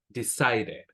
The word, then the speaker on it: decided: So, the general rule, la regla general es que si antes de la ed hay una t o una d, pronunciamos la e. Si no, no la pronunciamos. Por ejemplo, si tengo el verbo decided, pronuncio la e, decided.